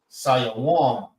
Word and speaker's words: Sivan: And Sivan in Hebrew is Sayawan. Sayawan. Sayawan. That's how you say Sivan in the Hebrew. Sayawan. 3 syllables. Sayawan.